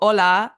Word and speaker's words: hola: any language for example hola has an H but you don't pronounce it you don't say hola you say hola but then a word